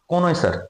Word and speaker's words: CONNOISSEUR: कॉनोइसर, कॉनोइसर कौन होता है, पारखी, किसी भी कला